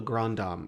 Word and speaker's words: Grand Dame: There is a character in the book called the Grandam. It's spelled Grand Dame but it's supposed to be grandam.